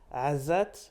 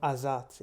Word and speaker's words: Azzat: So if you wonder if the proper pronunciation is Azzat, but I'm used to hear it in the English form Azzat.